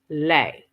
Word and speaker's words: Boule: Henry Milton and five of his colleagues, the Boule, an acronym for Sigma Pi Phi, and pronounced Boule, Boolay, was formed to bring together a select group of educated black men and women.